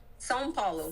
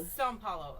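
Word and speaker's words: São Paulo: St. Paul. S. Paulo. S. Paulo. Okay. Is how it's pronounced.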